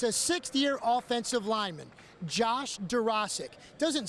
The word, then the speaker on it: Dworaczyk: last names that you really can't sound it out, and if you try, you're going to mess up.